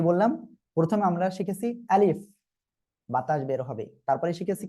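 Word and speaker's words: ب: প্রথমে আমরা শিখেছি আলিফ, বাতাস বের হবে। তারপরে শিখেছি কি? বা, দুই ঠোঁটের ভিজা অংশ থেকে উচ্চারণ হবে।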